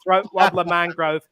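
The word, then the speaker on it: Raymond Luxury-Yacht: as your name is not Raymond luxury yashed and pronounced throat wer Mangrove you're fine little Monty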